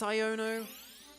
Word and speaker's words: Iono: Shield, and it's just like pronounced Iono, like Iono or Yono. I've just been saying Yono this whole time. I think it's Iono. I mean, it's sort of basically the pun is ion, because it's like ions,